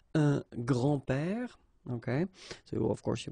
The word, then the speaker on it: grand-père: Okay, so it's not really difficult, and especially if you think about that, you don't pronounce this s, so actually phonetically it's the same, grand-père here and grand-père here.